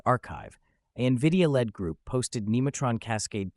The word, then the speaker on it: arXiv: On March 19th, on Arxiv, pronounced archive, a NVIDIA-led group posted